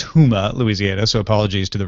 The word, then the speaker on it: Houma: that freaks me out yeah Shane says it's pronounced Houma Louisiana so apologies to the residents there for